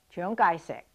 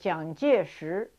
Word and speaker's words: Chiang Kai-shek: war was younger sure the three characters the three Chinese characters jiang jieshi are pronounced Chiang kai-shek in Cantonese but John gesture in Mandarin same three characters but entirely different pronunciation and spelling there are many other